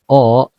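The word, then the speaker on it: を: Bunkai yang pertama yaitu kata benda o. Kata kerja transitif atau kata kerja aktif. Wo untuk menunjukkan objek Wo dibaca O. Nah, meskipun ini huruf Wo, tapi ketika dia menjadi partikel maka dibacanya O ya, Teman-teman.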